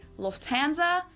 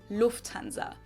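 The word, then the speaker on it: Lufthansa: flown with them before in English people usually say Lanza but in German we say Lanza so the emphasis on the first syllable Lanza versus Lanza and that was the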